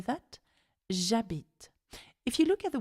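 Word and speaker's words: habite: the sound H because in France we don't pronounce the h Abit okay instead of habit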